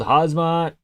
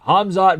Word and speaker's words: Hamzat: There's this account on YouTube called Hazmat. I know how to pronounce it. Hamzat Boris Jamayev, that is a Hamzat fan account